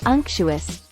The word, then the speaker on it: unctuous: real individuals May 9 unctuous pronounced UNC chuus meaning used to describe